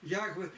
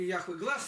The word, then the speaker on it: Яхве: Мы Ягве или Яхве, там нет гласных, буквы есть в иврите, непроизносимые, я хотел сказать, кто знает. Период. Период. То есть, именно так там это и написано. Ни одной гласной. Вот почему это звучит по-другому: пришел Билли Грэм, и